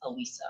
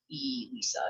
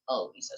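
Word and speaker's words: Elisa: Um and it's Alisa. It's not E Lisa, it's Alisa. So it's said with an A, spelled with an E.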